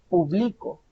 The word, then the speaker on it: publico: Primero tenemos la sílaba tónica al inicio. Público. El público. Luego dice yo publico. Si se dan cuenta, ahí está la diferencia. Inicio, el público está en la primera sílaba, la sílaba tónica o la acentuada.